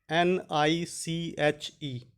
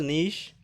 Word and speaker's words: niche: The word is Niche. And how is this pronounced? It is pronounced as niche in British English and pronounced as niche in American English.